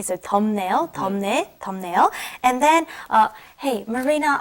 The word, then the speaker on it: 덥네요: And be careful, it does have the B up underneath it, but when you pronounce it, it's 덥네요. It's almost like an M, okay? So 덥네요, 덥네요.